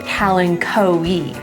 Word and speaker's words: kalanchoe: But if that were at the end, like for this plant here, then I am gonna pronounce the O and the E separately, so kalanchoe.